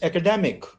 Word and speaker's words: academic: in different forms but look at the way uh stress changes uh it's academ academ and then Academy it's Academy then it's academic this is the word